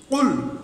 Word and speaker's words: قل: قل هو الله احد দেখো এখানে লক্ষ্য করে আমরা যে কুল কুল বললাম যে এই কফের উচ্চারণটা কিভাবে হবে হলকের মধ্যে একদম জিহ্বার গোড়ার কিনারা তার বরাবর উপরে তালুর সঙ্গে কুল কুল হুয়াল্লাহু আহাদ এই